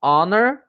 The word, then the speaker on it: honor: com sorte diferente do Honor onde não existe a pronúncia do H entendeu então é muito